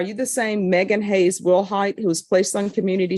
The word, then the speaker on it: Willhite: 2020 CR2272 state of Texas versus Megan Hayes Wilhight. Can I have parties announced for the record for the state? Daniel Oscobar for the state of Texas. Kelly Piddle. And are you Megan Wilhight?